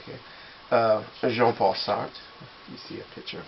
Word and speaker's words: Jean-Paul: them and say hey jean-paul how you doing i'm actually not pronouncing that correctly because it's not jean it's j j paul but you're going to